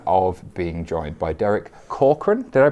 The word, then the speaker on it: Corcoran: On FinTech Insider interviews today, I have the pleasure of being joined by Derek Corcoran. Did I pronounce that right?